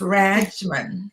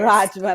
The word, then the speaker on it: Radgman: Um, we're talking about your and your your last name is Rajman. Correct. Correct. It's Rajman. Yes, Rajman.